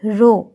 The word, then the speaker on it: rho: It is written as like this and it is pronounced as rho, R-H-O, into gravity.